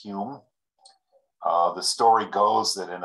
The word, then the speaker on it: Home: johnston by the way you see the two different spellings of home and hume they are evidently both pronounced hume the story goes that